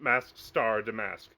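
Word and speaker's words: Mask☆DeMasque: yes that is pronounced mask star D mask yes excellent you have to pronounce the star it's important uh I mean we'll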